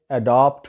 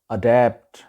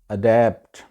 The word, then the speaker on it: adapt: ہے جی اڈیپٹ، ADAPT۔ اس کو وہاں پہ اڈاپٹ بولا جاتا ہے جو کہ غلط تلفظ ہے، صحیح اس کا تلفظ ہے اڈیپٹ، اڈیپٹ۔ اگلا لفظ ہے جی ڈیموکریسی، جمہوریت۔ اب اس